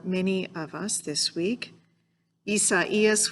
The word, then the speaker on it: Isaias: Isaias, which I learned to pronounce this week, is Spanish for Isaiah, the prophet, that is, the one whom Paul is referring to here in the book of Romans.